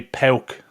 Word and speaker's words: PAOK: say said my Greek Insider is insisting it's pronounced so that be pel so p and then an L in the